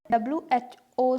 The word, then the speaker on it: who: लेकिन अगर WH है और पीछे O नहीं है तब H साइलेंट होगा। तो यहाँ देखिए whoever, who, whole, यहाँ W साइलेंट है।